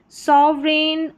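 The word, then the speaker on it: sovereign: चलिए next number seven पर है ई आई जी एन। इसको एन करके प्रोनाउंस करेंगे। जैसे रेन फॉरेन सोवरन और यहां पर है फेन और यह है रेस।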